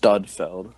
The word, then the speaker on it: Sudfeld: actually pronounced Studfeld.